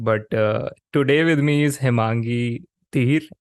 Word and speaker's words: Hemangi: But today with me is Hemangi Dhir. Am I pronouncing your name correct, Hemangi? Yeah, that's exactly how it's pronounced.